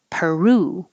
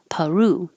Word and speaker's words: Peru: Peru, it can be per or because it's not stressed, pa, Peru.